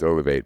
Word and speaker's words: Olivate: So the pronunciation is key, that it's Olivate, but yeah, that's where it came from.